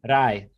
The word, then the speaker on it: рай: Рай. Oh, рай. Рай is heaven, like paradise. Yeah, like where you go after you die is рай. Рай. Попасть в раю. Попасть в рай.